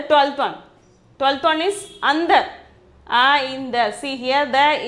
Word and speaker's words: अंदर: 12th one is andar. In the, see here the in is half. Then only you have to pronounce it as consonant sound. Then andar. The pronunciation is andar.